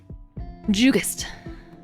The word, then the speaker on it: Jugust: Jugust. I pronounced it Jugust because it's Jug-ust.